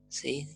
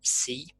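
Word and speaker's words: psi: Esta sería sí, esta es la letra griega sí, esa P por ahí es muda, pero yo la pronuncio, que nos da la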